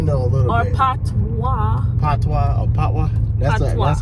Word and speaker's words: Patois: Patois. Patois or Patois? That's how you pronounce it.